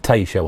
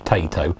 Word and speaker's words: Taito: We pronounce it Taito on here. So I'm pretty sure it's Taito.